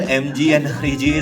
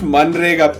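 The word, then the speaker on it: MNREGA: The real MG and REGA scheme of the startup world. Guaranteed employment, guaranteed carry. It's pronounced Manrega, Pete.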